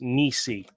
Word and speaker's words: Nisi: It is pronounced Nisi.